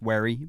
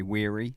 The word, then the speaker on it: Wherry: I've said it before on this because people get my surname wrong quite a lot because it's Wherry, but people say Wherry, and like it is quite annoying.